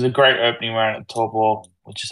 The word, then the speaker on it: Taupo: Nah, it was a great opening round at Taupo, which is how you pronounce it, by the way.